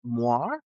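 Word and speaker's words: moiré: It's moire.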